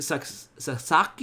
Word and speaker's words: Sasaki: 5 samba the amigo version 2000 tomoko sasaki sasaki is how you say her name she's uh